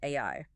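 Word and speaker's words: 愛: write the Japanese kanji for the word love pronounced AI.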